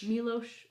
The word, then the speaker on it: Milos: Milos Forman.